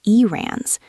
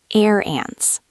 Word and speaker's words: errands: It's not rans. It's more like air ants. Airs like the air we breathe.